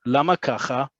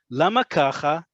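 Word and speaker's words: למה ככה: It's all contained in lama kacha. And you have to say it just like we said before with kacha, it goes up. Lama kacha. Right? The emphasis is on that.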